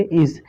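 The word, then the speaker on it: edge: यहाँ देखिए जी से पहले डी आया है, यानी कि डी आपका क्या है, साइलेंट है। इसको पढ़ेंगे इज।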